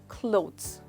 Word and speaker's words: clothes: इसको आप प्रोनाउंस करेंगे क्लोथ्स। दोस्तों क्या आप नोटिस कर रहे हैं, यहाँ पे एक खास साउंड है जो बीच में आ रही है और वो है डी, तो वो है क्लोथ्स। That's right. ये है वो साउंड, इसको हम कहते हैं क्लोथ्स।